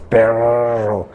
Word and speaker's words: perro: Perro, el que pronuncia las dos R's, perro.